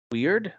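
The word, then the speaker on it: Wyrd: I think I saw a demo and I was like, we're pronouncing it Word, and I'm like, yeah, then you shouldn't spell it that way.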